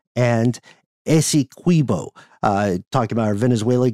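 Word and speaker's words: Essequibo: Venezuela's claims Guana is pronounced like d Ana ASO is pronounced with the QI like inquit it's an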